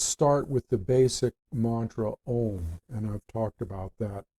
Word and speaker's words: Om: So let's start with the basic mantra Om, and I've talked about that before. It's spelled O-M, but at other times you will see it spelled as A-U-M, because that helps you with the pronunciation.